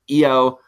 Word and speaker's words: Io: Her freaking sister's name is Mio. Her name is Io, okay? There you go, you freaking jerks who think I don't know my Joshi. Anyway, when Io, who also was supposed to...